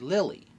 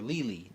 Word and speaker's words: Lily: time was Nefertari Lily, or Lili, depending on how you want to pronounce that. I like Lili more rather than Lily because Lili fits in with TT, fits in with Vivi, seems like a naming convention of the Alabasta people.